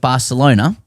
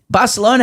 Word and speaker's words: Barcelona: Higgins seemed to suggest that in order to correctly pronounce the fine uh the name of fine city of Barcelona, one must swap out the C for a th sound.